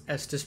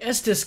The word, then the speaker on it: Estus: For quite some time, I couldn't even pronounce Estus properly. I'd put like a K at the end and be like, Estus flask!